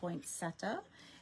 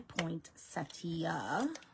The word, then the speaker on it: poinsettia: And we're going to put this beautiful poinsetta. And some people say poinsettia, which actually I believe is the proper pronunciation.